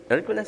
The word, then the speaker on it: Hercules: Hercules, sí, bien pronunciado, ¿eh?